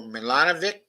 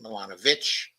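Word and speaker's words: Milanović: the Serbian American Branco milanovic I think it's actually pronounced um um actually milanovich but I may be mistaken there and Colombia's former Finance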